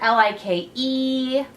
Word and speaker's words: like: I put the word Li ke like and we make that a longer because what the e is silent so we got to remember that that E is on